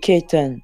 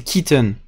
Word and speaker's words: Kitten: K-I, pas K-A. On me disait ça. Tout le monde me dit Kaiten. Non, non, c'est Kitten. Seulement, quand tu prononces, c'est Kitten. Tu vois ce que je veux dire? C'est Ouais. un I, c'est pas un A.